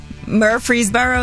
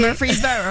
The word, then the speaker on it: Murfreesboro: Murfreesboro, is that how you say it? There you go, yeah. You even said it with a little bit of accent. Murfreesboro.